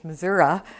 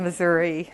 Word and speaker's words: Missouri: knew that but that's the correct pronunciation is Missoura instead of Missouri um a lot of